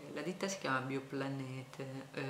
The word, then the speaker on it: Bioplanete: la ditta si chiama Bioplanete, io pronuncio la tedesca perché i proprietari di questa ditta producono per lo più in Francia, però sono tedeschi, questa è una ditta tedesca.